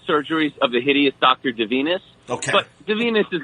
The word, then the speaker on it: Divinus: to get it wrong so uh from a pronunciation standpoint uh the graphic novel is forbidden surgeries of the hideous doctor de venus okay but the venus is a made-up name so if you said divinus or one of the other pronunciations i've heard